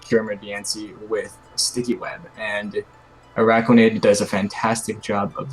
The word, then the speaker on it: Araquanid: Aquanid. Arquanid? How's it pronounced? Araquanid. Oh, like Arachnid.